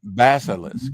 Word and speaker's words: Basilisk: uh to this character also uh B uh Ballas, however you say his name. Not in this issue, but um Another Marvel came up. Oh, Basil. Bas Basilisk. I'm sorry. Basilisk.